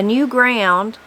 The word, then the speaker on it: new ground: we raised our corn a new ground pronounced as one word was best this meant